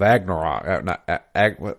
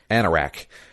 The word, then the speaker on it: Anorak: So he would go and go into since he had the robes of Agnarok, how's it pronounced? Anorak. The robes of Anorak, he was basically user admin.